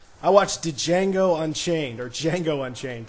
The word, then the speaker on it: Django: watch Django Unchained or Django Unchained the D is silent um but it's about